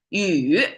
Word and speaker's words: 雨: essential for the civilization's survival so rain today you is how Chinese pronounce it and how Chinese visualize it conceptualize